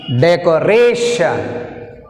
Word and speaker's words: decoration: In this word stress mark came are. ఇక్కడ చూస్తే మీరు స్ట్రెస్ మార్క్ ఆర్ మీద ఉంది కాబట్టి we pronounce like this: decoration, decoration, decoration.